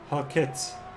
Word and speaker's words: Halkett: Halkett, as far as I think Mark Henneberry corrected me in the last stream. Halkett. Halkett, so it's almost like an RT at the end, I think.